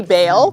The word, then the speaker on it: Baal: for 20 points elijah defeated 450 prophets of baal on this mountain that is a great question pastor because we say bail that's the english pronunciation but then people go